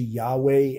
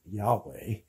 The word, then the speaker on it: Yahweh: intervenes here and why why it was pronounced jehovah as opposed to yahweh which is what modern hebrew scholars prefer and that's just that